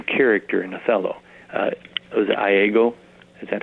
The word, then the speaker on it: Iago: Was it Iago? Is that how it pronounced? Iago, yeah.